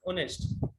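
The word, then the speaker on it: honest: ऑनेस्ट, ऑनेस्ट तो आप जानते हैं ना, इसको हॉनेस्ट मत बोलना, वी प्रोनाउंस इट ऑनेस्ट, ईमानदार, मतलब एक चीज में साइलेंट हो जाता है, ऑनेस्ट बोलते हैं, ईमानदार, ठीक है, आप होंगे ही।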